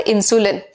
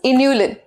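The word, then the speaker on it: inulin: Guys it इज नॉट इंसुलिन। ठीक है, कई बच्चों को गलती से ऐसा लग जाता है कि ये इन्होंने स्पेलिंग गलत लिखे हुए हैं एनसीईआरटी वालों ने, बट ऐसा नहीं है। This is इन्यूलिन।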